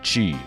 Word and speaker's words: Qi: as the thumbnail says you pronounce Mr as Mr Chi that's right c-h-i-g now this was